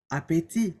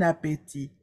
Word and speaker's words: appétit: proncech par exemple appétit appétit se termine en T mais on ne prononce pas le T ok bon appétit gros grand long et